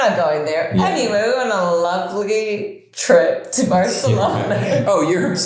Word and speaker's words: Barcelona: Barcelona.